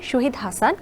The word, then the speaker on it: শাহিদ হাসান: কিন্তু যেহেতু আমরা সবাই SHA শ মনে করি, তো সেই জায়গায় সল রাইট, কিন্তু ইনফ্যাক্ট আমার প্রোনাউন্স হবে শাহিদ হাসান, মোহাম্মদ, যেমন জাহিদ হাসান, জহিদ হাসান বলি না কিন্তু আমরা, বিকজ বা ওইরকমই আর কি।